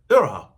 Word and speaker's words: Iroha: Yeah, Iroha.